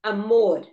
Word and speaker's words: amor: So you say amor. Amor. You say calor. Calor is heat. Heat. Okay. So amor and calor. They both end in R and the stress is on the last syllable.